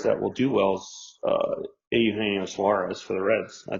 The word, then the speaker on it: Eugenio: Yeah, I You got mean, Mean Gene, but it's A. Eugenio. Eugenio.